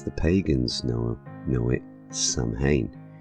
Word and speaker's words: Samhain: pagans know know it Samhain which is actually pronounced in two ways depending on your dialect it can either be pronounced as soin orun when translated